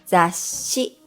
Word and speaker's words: ざっし: Zashi, this means a magazine. And,machi or match. Notice that for the sh sound in zashi, we only add an extra s to the romaji.